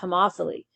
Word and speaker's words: homophily: This word is pronounced homophily, and it's the tendency for us to form